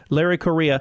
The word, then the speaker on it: Larry Correia: o r re e i a but it's pronounced Korea Larry Korea and again his latest book out right now